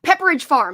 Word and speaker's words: Pepperidge Farm: we grabbed the pumpkin cheesecake pepper Pepperidge Farm Pepperidge Farm that's how you say it I I knew